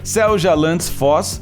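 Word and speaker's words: Seljalandsfoss: não é tão simples assim mas a cachoeira selja landis foz é considerada uma das mais incomuns do mundo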